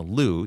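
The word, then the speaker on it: Liu: our channel that says, "Alyssa has requested that the media say her name Lou even though she herself pronounces it Leu."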